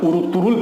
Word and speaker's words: Ertuğrul: نہیں ہوا تھا۔ ارطغرل کو ترکی والے ارطرل پڑھتے ہیں، ارطرل بغیر غین کے، جبکہ اسے غین کے ساتھ ارطغرل لکھا جاتا ہے۔ اس کی وجہ یہ ہے کہ ترکی زبان میں غین کا تلفظ نہیں ہے۔ 1929 سے قبل ترکی